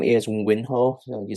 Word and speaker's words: Winho: So my name is Winho, so you spell it W-I-N-H-O, so Winho, and I'm the instructor for the course.